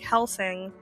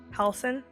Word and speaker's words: Halsin: I thought about how like Helsing, oh my god, this is right name right? Halsin? That's how you say it.